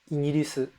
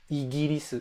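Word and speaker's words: イギリス: A lot of presenters ignored the official pronunciation and they just said igirisu, igirisu. They still have a somewhat hard G.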